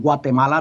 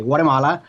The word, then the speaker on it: Guatemala: I'm originally from Guatemala. That's the way that you pronounce it. Otherwise, you say Guatemala.